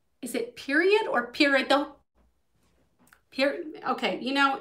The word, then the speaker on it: peridot: is it period or peridot okay you know it's it's period with a t at the end of it i am